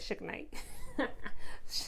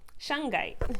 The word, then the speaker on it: shungite: suge knight um or how do you pronounce this shungite i think i said shik knight you know i was thinking that suge knight the rapper anyways shungite all right so let's